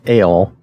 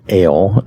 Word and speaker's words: El: it it is pronounced ale and you notice how they spell that like ale a-a-l-e so it's pronounced like ale even like the letter L but it's spelled e-l for for our purposes